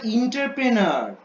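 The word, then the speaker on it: entrepreneur: ও, ওটা ওটা এন্টারপ্রেনার। ঠিক আছে, ওটা ওটা হচ্ছে ওটা হচ্ছে এন্টারপ্রেনার। ওকে, উচ্চারণটা একটু ভুল করছো।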